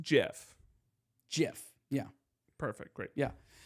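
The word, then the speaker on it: GIF: And you were also telling me it's pronounced Jif.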